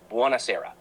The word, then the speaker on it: buonasera: Good evening, buonasera, pronounced buonasera.